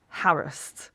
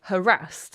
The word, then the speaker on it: harassed: Right, this is a word which traditionally in Britain is pronounced harassed like embarrassed, okay? So it would have rhymed with embarrassed. But people today tend to say harassed, okay?